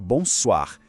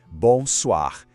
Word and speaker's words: bonsoir: À l'approche du soir, vers 18h, la salutation change et devient « bonsoar ». Le son est un peu plus ouvert, vous voyez ? Bonsoir.